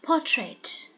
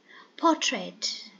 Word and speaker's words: portrait: Portrait. Portrait. Two syllables and the first syllable is stressed.